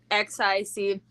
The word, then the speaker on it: anoxic: I don't know how to pronounce that word. It's anoxic.